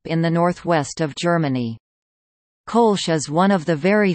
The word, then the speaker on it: Kölsch: Colonian or Kolsch, Colonian Kolsch pronunciation K, natively Kolsch Platt, is a small set of very closely related dialects or variants of the Ripuarian Central German group of languages.